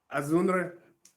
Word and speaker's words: Azunre: Azunre, Okay. just make sure to pronounce the N.